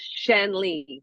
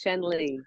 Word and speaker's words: Shanley: the company name is AIA and my is pronounced Shan Lee Yes Shan Lee that's I told you guys good with that